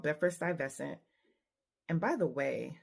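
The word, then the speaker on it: Stuyvesant: a district called beer sty vescent and by the way sty vescent is spelled like Stewie vasant so in Beford St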